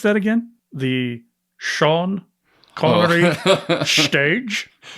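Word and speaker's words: Sean Connery: be named in honor of the late Sir Shan Connory.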